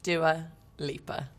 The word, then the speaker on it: Dua Lipa: long story cut short how is dewalieba pronounced doer leaper it's quite easy although